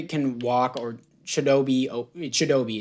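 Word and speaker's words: Chidobe: walk or shadowbe or chidobi is how you say not chidebay I'm an idiot T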